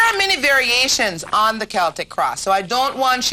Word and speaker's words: Celtic: Many people mispronounce it and call it the Celtic cross. Well, Cleo's going to tell you it is called the Celtic cross.